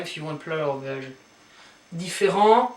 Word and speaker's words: différent: Différent, you don't pronounce the t here, but if you have a feminine version, then you add an e, so therefore you pronounce the t, so it becomes différente.